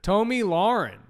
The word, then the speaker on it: Tomi Lahren: Or is it Tomi Lahren? I don't know how to I don't say her name. I don't know how to say her name there. Tomi Lahren.